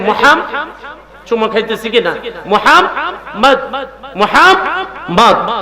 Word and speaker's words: মোহাম্মদ: নবীজির নামটাই রাখছে মোহাম্মদ এই মোহাম্মদ কেউ যদি উচ্চারণ করতে যায় সে অটোমেটিকলি এই দুইটা ঠোঁট আইজে যাবে সুবহানাল্লাহ আরো জোরে বলেন বলেন এই যে মোহাম্মদ চুমা খাইতেছে কিনা মোহাম্মদ